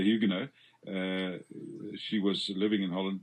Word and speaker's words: Huguenot: Americans say Huguenot, I think, but we say Huguenot.